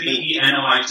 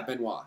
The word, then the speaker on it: Benoit: Is it B-E-N-O-I-T? Yeah, Benoit, yeah.